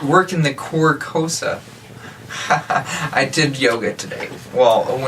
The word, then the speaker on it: Carcosa: it's Carcosa. Yeah, Carcosa. Carcosa. Like the car. I gotcha. Yeah, it's not working the Carcosa.